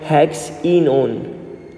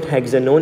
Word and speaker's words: hexenone: But instead of calling it hexanone, you should call it hexenone. Focus on the pronunciation. It's not hexanone, it's hexenone.